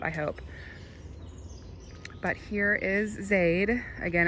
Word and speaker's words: Zaide: But here is Zaide. Again, it's spelled Z-A-I-D-E.